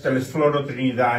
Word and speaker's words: Telesforo Trinidad: serve as the ship sponsors for the USS Telesforo Trinidad. And you're all going to have to learn how to pronounce the name the way I'm pronouncing it, okay?